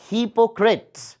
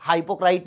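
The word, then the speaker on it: hypocrite: Pronunciation ध्यान रखना है। अ हिपोक्रेट, अ हिपोक्रेट, अ हिपोक्रेट, ऐसा हाइपोक्राइट नहीं है ये ना।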